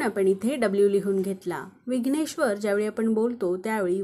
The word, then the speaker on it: विघ्नेश्वर: इथे आर लिहून घेतला र हा शब्दात शेवटी आहे आणि जसं की मी सांगितलं शब्दात शेवटी व्यंजन आल्यास त्याच्यापुढे अ चा उच्चार होत नाही म्हणून आपण आर च्या पुढे ए लिहिणार नाही मग विघ्नेश्वरच स्पेलिंग काय तयार झालं